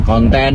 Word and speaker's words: konten: k u dan n kemudian konten huruf k o n t e dan n Jadi bukan konten seperti dalam bahasa Inggris nah ini Tentunya memperkaya